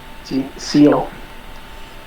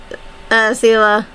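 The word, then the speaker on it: Seele: Seal. No, it's literally Sela. Yeah. But there's no A. No, it's just how it's pronounced. Or is it... Yeah, it is pronounced Sela.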